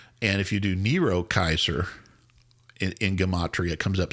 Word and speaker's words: Caesar: Nero Caesar, or Nero Kaiser. Yeah, there's no soft. We say Caesar. There's no soft C in either Hebrew or Greek, or Latin.